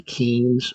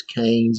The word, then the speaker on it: Keynes: pronounce this name maybe Keynes, but I promise you it's Keynes. It rhymes with brains, is a way to remember.